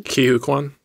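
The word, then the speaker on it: Ke Huy Quan: And in the trailer, when and I don't want to say his name wrong. Kihu Kwan?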